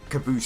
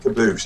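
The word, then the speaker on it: Qaboos: Caboose.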